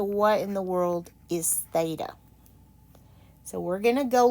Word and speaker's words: theta: Okay, that's pronounced theta.